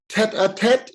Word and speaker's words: tête-à-tête: Okay, so Sharanya, please, you're going to tell a story called A Monumental Tête-à-Tête. Is that how we pronounce it? It's a tête-à-tête. It's a French word.